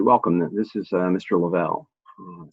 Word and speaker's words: Lavelle: this is uh mr lavelle um i pronounced my name labelle and this is pretty